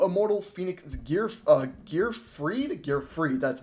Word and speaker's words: Gearfried: We're going to start off with our first card, 2 Immortal Phoenix Gearfried, that's how you pronounce it.